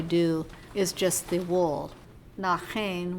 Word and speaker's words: Naaxein: Nachen, which is how you say it in Tlingit, is fringe about the body, according to Evans.